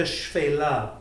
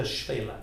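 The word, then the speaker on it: Shephela: in Israel, you see an expression called the Shfela on the road. You can see that today. How do we spell that properly?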